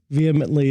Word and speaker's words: vehemently: How do you say that word? Vehemently. It's like, No, I like my way better.